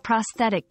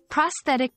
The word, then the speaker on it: prosthetic: design and personalization pronouncing prosthetic can be tricky it's sounds like pros that I see with the emphasis on the second syllable remember the th is